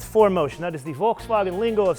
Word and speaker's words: Volkswagen: 2019 Volkswagen yes that is how you correctly pronounce it Volkswagen RT on to OTS e with four motion